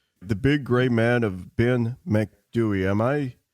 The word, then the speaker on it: Ben Macdui: Now we're going from Green Children to the Big Gray Man of Ben Macdui. Am I pronouncing that name right?